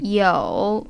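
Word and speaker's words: 有: this list we have the hansi character with the meaning to have and the pronunciation yo it comprises this kind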